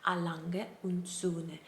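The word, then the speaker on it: A. Lange: a german watch company and the way to pronounce it correctly would be a lange which translates to a lange and sons and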